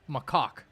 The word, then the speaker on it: macaque: We got the official pronunciation, and it's macaque.